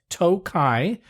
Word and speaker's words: Tokaj: sometimes an additional I at the end it's pronounced toai or sometimes toai ASU which is a sweet